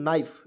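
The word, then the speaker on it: knife: तो वही यहां पे के को साइलेंट करेंगे एन से होता है ना लिखेंगे और आई एफ ही है तो दोस्तों नाइफ यानी कि नाइफ इस तरह से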